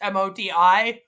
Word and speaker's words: Modi: It's Modi.